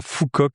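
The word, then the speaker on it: Phu Quoc: yes je l'ai perdu sur la plage à Fouok si vous voulez aller voir s'écrit PH U espace Q U o C.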